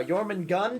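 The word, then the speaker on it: Jörmungandr: Jormungand, you say? Jormungand. It is pronounced Jormungand. Jormungand. There's an R at the end of it.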